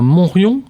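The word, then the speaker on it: Montriond: Pour revenir à votre parcours, Claude Gaillard, vous venez de le rappeler, vous êtes savoyard, vous êtes né à Montrion, c'est comme ça que ça se prononce ?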